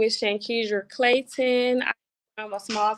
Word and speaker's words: Shankedra: I'm real careful because I know it's Shankedra Yes. Clayton. Did I say it right? Yes, Shankedra.